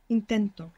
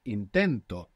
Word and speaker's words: intento: well intent inent good the accent intent we have the accent on the end when we put the O the accent is just before it intento now this is extremely important if I say intento if I put the accent on the end it means something else it means he tried which is going to